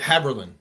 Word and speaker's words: Haberlin: He has a website, which is Steve, and is it Haberlin or Haberlin? You said it right. Haberlin. Yep. Haberlin. Okay, perfect.